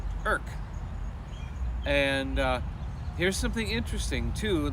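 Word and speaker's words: Erick: It was called Eric, but they don't pronounce it Eric. They pronounce it Irk. Irk.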